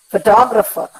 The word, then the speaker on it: photographer: But when I say photographer, what happens? The second last syllable receives the stress, photographer.